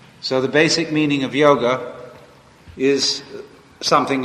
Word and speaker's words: yoga: a discipline called yoga the word yoga y o g a don't say as many people do Yogi Yogi is one who